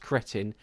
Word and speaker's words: Cretton: if anyone tells you that it's not pronounced cretin, it's pronounced cretin, you tell them, goes, no, it's Swiss, it's cretin, not Greek. It's Destin Daniel Cretin.